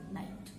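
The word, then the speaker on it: knight: के साइलेंट होता है, KNIGST, नाइट.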